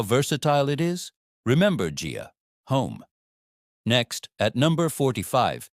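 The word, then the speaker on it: 家: Gia, pronounced Gia. Listen carefully. Gia. It sounds like the J in jar.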